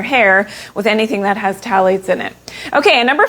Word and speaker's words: phthalates: Okay, number four is phthalates. So the H is silent.